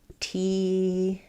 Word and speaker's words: teeter: So it sounds like teeter. Nice light flap sound. Not a strong D, just a flap, teeter.